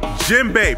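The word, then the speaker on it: djembe: and marine gay d jimbei pronounced with a silent d from the mali empire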